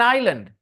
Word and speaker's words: island: It was an island. S is silent.